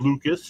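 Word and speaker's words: Lukes: It is is Lucas. It's spelled L U K E S.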